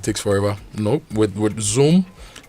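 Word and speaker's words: XOM: Zoom. Zoom. It sounds like Zoom, the one for video conferencing.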